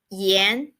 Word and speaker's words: 炎: we are going to learn is the yen yen Yen it means hot so do you notice